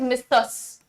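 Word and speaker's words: Mrs: है the spelling is मिसस यह होता है मिसस स्पेलिंग यह है भैया लेकिन इसका प्रोनंसिएशन होता है मिसेस मिसेस मिसेस जज का साउंड है इसमें ना ज का सो दिस इज द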